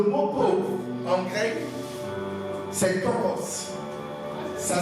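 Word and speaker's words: πτωχός: Le mot pauvre, en grec, c'est tokos. Ça s'écrit P-T-O-C-H-O-S.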